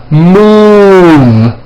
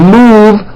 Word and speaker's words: move: first one now the ooh sound is in the word notice how my lips are puckered tight and forward move you don't bring your lips tight and forward you are not going to make the correct sound and if you don't do this right the u will sound like uh and move will sound like and that is no good practice these words with